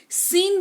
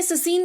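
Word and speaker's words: scene: कौशल जो कह लीजिए सीन बोलते हैं ससीन नहीं बोलते हैं एस सी ई एन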